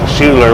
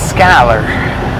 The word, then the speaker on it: Schuyler: it does it does it looks to me like it says Schuler by the looks of the word it looks like it would be pronounced Schuler but apparently it's Skyler well why they put